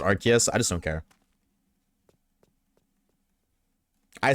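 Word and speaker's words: Arceus: I say Arus, but I know it's pronounced Archus.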